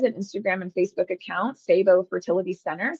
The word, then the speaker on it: CIBO: Our clinic also has an Instagram and Facebook account, Sabo Fertility Center. Sabo is spelled CIBO.